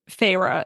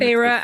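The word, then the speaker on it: Feyre: actually in the beginning of the story um Phra is human. Who's Phra? Phra is the protagonist. Oh, I see. So, the one phah and and Phah is spelled F E Y R E.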